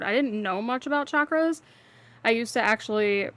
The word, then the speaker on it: chakra: didn't know much about chakras. I used to actually pronounce them chakras which a lot of people do but it is actually pronounced chakra the way it's spelled.